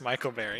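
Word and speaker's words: Micle Berry: It's clearly pronounced Michael Berry.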